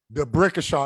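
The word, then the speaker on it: D'Brickashaw: and it's spelled just the way it sounds: D apostrophe BRICKASHAW. DeBrickashaw.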